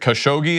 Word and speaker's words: Khashoggi: journalists name Jamal I'm not sure if I'm pronouncing his last name credit khashoggi is that correct that's right and for those